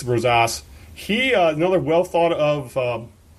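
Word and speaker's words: Gersson Rosas: operations garrison Rosa Rosa I believe it's pronounced Rose ace Rose ass he another well thought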